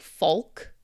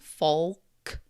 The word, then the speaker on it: folk: This one can also be said like folk with more of the L sound folk. But some people say folk, some people say folk.